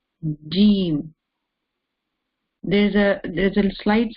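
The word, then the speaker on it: ج: Egypt or other countries, they say the jeem as jeem. Jeem. This is wrong. The proper way, the right way to say the jeem is jeem, not the jeem.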